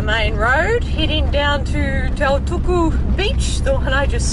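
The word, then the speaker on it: Tautuku: Just turned off the main road, heading down to Taituku beach, the one I just saw from the viewpoint. I pronounced it wrong at the viewpoint, it's actually Taituku.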